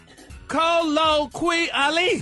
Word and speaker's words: colloquially: No, you didn't pronounce the Q, quia. It's colloquia.